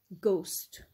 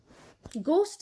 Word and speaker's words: ghost: one by one ghost ghost is our first word what is the sound what can you hear clearly when you pronounce the word ghost ghost we hear a sound of g a hard g so most of the